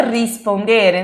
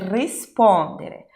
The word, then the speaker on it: rispondere: Per rispondere, Isabela, não é rispondere? Não, não é rispondere, per rispondere.